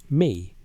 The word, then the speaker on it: me: The word is me, pronounced roughly as the English word may, and it appears in